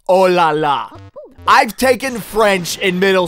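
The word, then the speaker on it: oh là là: because that supposed to be a part of ooh la la but it's actually pronounced oh la la I've taken French in middle school I know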